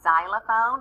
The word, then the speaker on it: xylophone: starts with an x that is where the letter x is being different and not using its sound it sounds like a z but you just have to learn and remember that xylophone starts with an x we have a book